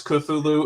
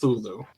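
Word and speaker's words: Cthulhu: will I will have I will say that thwn is also okay because you have cthulu right right but also another appropriate way to pronounce culu is thulu so yeah so I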